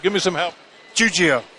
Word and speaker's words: Giuggio: to attempt your name give me some help juio juio I would have said it wrong Frank juio